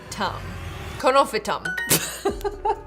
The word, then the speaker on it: Conophytum: How to pronounce? Conophytum.